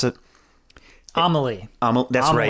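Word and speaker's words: Amélie: So in a panic, having certainly not intended on killing BB, Emile, it was Emile, right? Is that how you pronounce it? Amelie.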